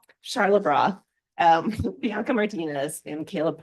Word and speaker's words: Charlebois: Charlotte Broth.